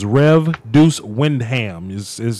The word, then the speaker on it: Windham: So it's Rev Deuce Wyndham.